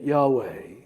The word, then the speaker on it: Yahweh: tongue and in fact if correctly pronounced they perfectly replicate the sound of inhalation and exhalation he did it about